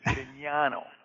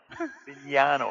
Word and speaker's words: Bisignano: Frank and Bisignano, as best I can, as it reads, who currently serves as... In its Italian name, it's Bignano. Bignano is how you pronounce it.